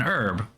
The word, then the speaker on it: herb: American an herb but to the British it is a herb with a hard H right you actually pronounce the age whereas we do not um the thing is that herb is a borrowed word from the French and pronouncing it herb is closer to French than it is to what the English say which is Herb right the reason they